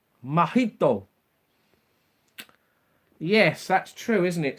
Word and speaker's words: Mojito: Johnny, the letter J is pronounced as a H in Spain. Mojito. Mojito.